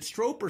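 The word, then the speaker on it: Stroup: with keith is it stroper stroop the strong it rhymes with drop that's how he there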